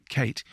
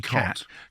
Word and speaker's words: Cait: And that's Kate, which is C-A-I-T, and I have met Kate spelled like that who say cat or cot.